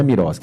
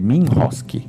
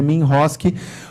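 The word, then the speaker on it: MROSC: Regulatório, o MIROSC, né, que na verdade não é MIROSC, é MINROSC a lei. A forma de pronúncia é MINROSC, porque não há dúvida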